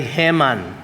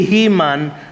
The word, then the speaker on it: Heman: Ang nag-compose ng salmong ito ay ang pangalan niya ay Heman. No hindi po heman no. Sabi nga ni pastor Lar kaninong umaga hindi si Heman na superhero. No Heman po ang pronunciation ng pangalan niya.